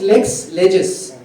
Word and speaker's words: Lexlegis: again for coming so Lex leg. a is pronounced Lex leges lexicon on legislations collection